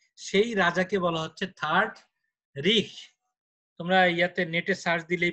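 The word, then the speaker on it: Reich: German third রিখ, এদের উচ্চারণটা হলো রিখ।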